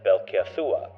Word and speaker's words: Belceia'sua: Now that I think about it, her name should be pronounced as Belkasua. Considering the C in Aadia is said with a K sound rather than the S sound.